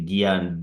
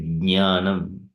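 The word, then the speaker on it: ज्ञानम्: Some people they say Gyan, G-Y-A-N, Gyan like that in English. That is how they pronounce. But it is not Gya. It is Jnanam.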